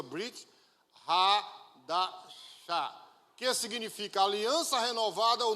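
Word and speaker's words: ברית חדשה: Se pronuncia Brit Hadashah, que significa aliança renovada ou nova aliança.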